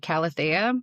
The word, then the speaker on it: Calathea: It's um he pronounces it Calathea and that's how my like my brain says it, so I didn't argue.